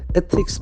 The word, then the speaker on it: ethics: Ethics, the accent falls on the first syllable, ethics. The th sound is very prominent.